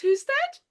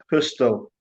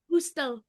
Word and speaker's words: Husted: It doesn't get pronounced as a D, so it's Natasha Hustel. Hustel.